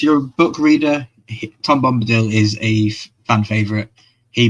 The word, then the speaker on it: Bombadil: Is it Bombadil? Am I saying it right? Yeah, Bombadil.